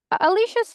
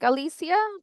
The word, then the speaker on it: Alicia: Alicia's fine. Yeah. Well, how do you say it? Well, it's Hispanic Alysia, but my short is Alicia.